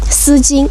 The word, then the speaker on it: 丝巾: wei jin this one 我们叫丝巾 we call it 'sijin' well they don't keep you warm but they make you pretty 这样子的呢我们叫丝巾 this kind, we call it 'sijin' 说完了帽子围巾 finished hat scarf 下面呢就是我们的衣服 then we'll talk